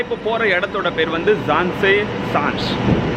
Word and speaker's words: Zaanse Schans: ஸோ நான் இப்போ போகிற இடத்தோட பேர் வந்து ஜான்சே ஷான்ஸ், அப்படி தான் ப்ரொனவுன்ஸ் பண்ணுவாங்க.